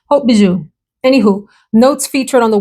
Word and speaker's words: Haute Bijoux: This is from House of Sillage, and it's Haute Bijoux. Hope I pronounced that right. Sometimes I've said the S, Hauts Bijoux. Haute Bijoux.